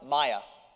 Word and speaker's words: Mia: How many of you pronounce her name M-I-A, Mia? And how many of you pronounce it Maya? How many of you don't know? Mother, father, shout it out. Mia, it starts by knowing how to say the name, right?